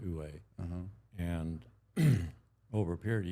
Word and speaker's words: Wu Wei: Ue is well it's pronounced. It looks like Wu Wei, but it's pronounced Ue.